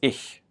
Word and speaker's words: ich: Now when I first started off, I probably wanted to pronounce this quite harsh, sort of like ich, but it's much softer, it's ich. If you imagine somebody laughing and going he, it's that first h sound, the he. So ich.